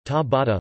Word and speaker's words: Ciabatta: Ciabatta, Italian pronunciation, ta-bata, literally, slipper, is an